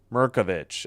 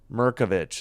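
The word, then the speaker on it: Mirkovic: Merkovich. Okay, they said Merkovich three is good by No, long two. Pardon me. 2820 Yukon. Okay. Murkovich is how you say it. I was saying it wrong.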